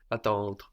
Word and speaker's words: attendre: So the E is not really pronounced, although it is in some accents and dialects, but generally you just get as far as the R. The E is just showing us to pronounce the R.